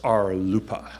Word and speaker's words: RLUIPA: and Institutionalized Persons Act, which is pronounced RLUIPA, spelled R-L-U-I-P-A. If you ever hear about RLUIPA, that's RLUIPA.